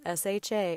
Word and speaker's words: Sausha: So I always have to say Sausha. And they're like, oh, like sausage? Like, yes, like sausage, which is another thing.